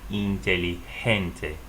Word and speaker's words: inteligente: You also heard that up here in this word intelligent. It sounds like inteligente.